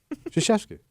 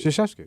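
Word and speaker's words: Krzyzewski: Shasheeski. Say it again. Did you say Koski? Shasheski.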